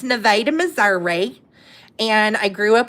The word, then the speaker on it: Nevada: It's spelled like Nevada, but it's pronounced Those of us that are from Missouri, how do we pronounce this? Nevada. It's Nevada, Missouri.